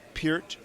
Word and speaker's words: Peart: I've been pronouncing his name as Peart for like decades now. It's actually pronounced Peart. Right. Peart, that's Yeah, right.